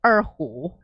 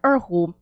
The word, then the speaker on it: erhu: a lot of people haven't seen, an erhu before. A what? Or an erhu. Okay, how would you spell that?